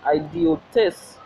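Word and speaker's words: ἰδιώτης: Greek Strong's 399, Greek transliteration, idiotis, pronunciation idiotis, right?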